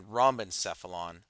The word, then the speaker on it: rhombencephalon: brain are sufficient terms the way this is pronounced is prosencephalon mesencephalon for the midbrain and rhombencephalon for the hindbrain okay so let's take